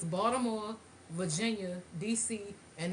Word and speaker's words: Baltimore: It's Baltimore. It's not no Baltimore. What the hell is the Baltimore? Who pronounces the L?